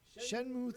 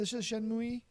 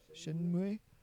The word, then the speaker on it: Shenmue: I never got into Shenmue. I even said it wrong the first time because I pronounced it the American way. Shenmue.